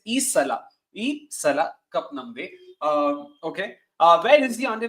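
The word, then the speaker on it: ಈ ಸಲ ಕಪ್ ನಮ್ದೆ: I'm also getting the pronunciation wrong because everyone's butchered it by calling it Isala, Isala. So I hope I'm getting it right. It's Isala cup namde.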